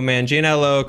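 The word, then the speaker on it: Manganiello: uh as Deathstroke and props to me for pronouncing Joe manginello correctly up the sign three days since the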